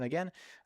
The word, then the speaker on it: again: One small correction again. Uh how do you pronounce this word? Again. Yes. Again. So not again. There is no gain like the word again. Yes. Again. Short e again.